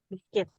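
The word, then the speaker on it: biscuit: biskuit cara bacanya tuh tulisannya biskuit cara bacanya biskuit biskit biskit ya Nah kalau lemonade ini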